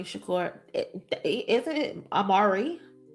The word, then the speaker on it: Amaru: Tupac Amaru Shakur isn't it Amaru? It's Tupac's middle name and it's pronounced Amaru.